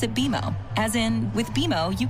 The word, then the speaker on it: BMO: You'll be seeing us around soon, and when you do, I bet you'll call us BMO. Don't worry, it's more common than you think, but we actually pronounce it BMO.